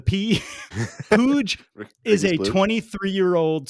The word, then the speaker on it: Puig: Midfield play of Ricky puj which I believe that's how you say it it's spelled like Puig but I think it's splooge with a pooj is a 23 year